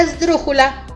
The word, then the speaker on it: esdrújula: esdrújula es el brújula si se dice esdrújula si después de sonido fuerte que es el drum sigue la sílaba jo y la porque entonces quiere decir que la tercera ola antepenúltima es la que suena fuerte vamos a ver más